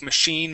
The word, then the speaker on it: machine: okay sometimes as well the I like machine Marine okay make that e sound as well okay so